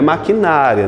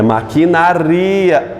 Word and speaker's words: maquinaria: palavra aqui maquinaria maquinaria não é maquinária não tem acento É maquinaria esse ia se separam